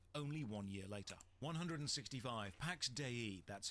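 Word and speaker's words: Pax Dei: properties and died only one year later 165 Pax de that's how it's pronounced the developers said so is is a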